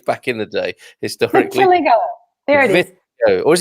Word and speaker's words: vitiligo: Oh, it is vitiligo. Yeah, he's got a phonetic medical pronunciation in there.